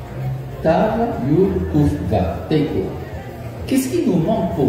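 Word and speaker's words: תיקו: Et Teiko, ça s'écrit Tav Yud Kuf Vav, Teiko.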